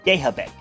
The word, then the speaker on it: Gehabich: I say Gehabik mostly because her last name when you spell it, is Gehabich. And you won't believe how many times in middle school I heard people call her Alice Gehabich.